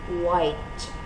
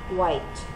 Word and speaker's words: quite: Now listen to the pronunciation of this word, white, white. So you can hear that there's only one syllable and the sound is slightly different.